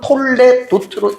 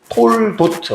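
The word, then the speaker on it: תולדות: 요거는 요게 쉐화가 아 무음이 아니고 발음하면 톨레도트로 읽으면 돼요. 아니면 무음이 되면 톨 톨도트 뭐 이렇게도 읽는 거거든요.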